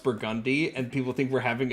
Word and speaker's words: Burgundy: The way you're saying it, because Burgundy's a word, but it's just like when people say Burgundy for the New Orleans street, but it's actually pronounced Burgundy, and people think we're having a stroke.